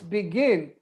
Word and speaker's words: begin: It's begin. And where is the stress in begin? Begin. I think the end. It's in gin. The stress is the second syllable.